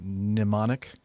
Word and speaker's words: mnemonic: All these words are words that start with a certain letter, but they don't really sound like that letter at all, or the letter is silent. Pneumatic for P. Let's see, mnemonic.